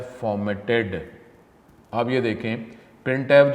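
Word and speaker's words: printf: यूज to display output it is pronounce as प्रिंट F syntax क्या है प्रिंट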